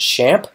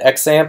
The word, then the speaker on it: XAMPP: using is exempt and I think they actually pronounce it shamp which is surprising to me if you watch this introduction I've always called it xampp or lamp or lamp